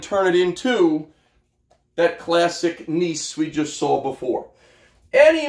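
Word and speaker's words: gneiss: back to igneous so I think of nice as as nice as it gets right so play on the pronunciation there here's your metamorphic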